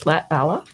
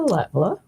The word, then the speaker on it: Latvala: Well, the first one that you said was the Finnish pronunciation. Latvala? Finnish, so that's the correct one. Well, yeah, but the Latvala. second one is the way that everyone says it, Okay. including myself.